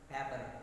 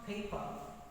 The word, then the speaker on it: paper: very different pronunciation because in telugu we can say pepper no in english it is pronounced paper what's that paper paper two syllables the first syllable is probably stresses on first syllable paper so this is